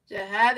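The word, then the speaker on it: Jihaad: Jiad and Campbell.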